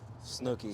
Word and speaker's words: Snuki: We're here at the Auto Bar with, is it pronounced Snuki? Snooki.